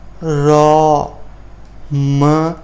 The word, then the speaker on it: रामः: उसी तरह से विसर्ग का उच्चारण होता है, जैसे र, अ, र, म, अ। म के बाद स्वर है इसलिए हलंत हट जाएगा, रामः, रामः। कवि, क, अ, कविः, कविः, कविः।